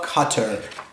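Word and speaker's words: Qatar: enjoy quinoa and quiche by the keys of cutter cutter is a desert country in the Middle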